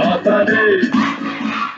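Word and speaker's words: Håfa Adai: Just pronounce it as in half a day. Sing it with a beat and say it every day. Like hoppa, hoppa, hoppa, hoppa day.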